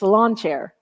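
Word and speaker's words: sláinte: to your health and pronounce it's Sal lawn chair it's lawn chair oh I I did Google like how do you pronounce this and it said slancha but I guess it's slancha there it's pretty close it's pretty close welcome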